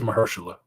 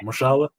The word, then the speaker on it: Mahershala: mahershala yes it is mahershala what did I say mashallah I know what his name is I said it wrong he's from the Bay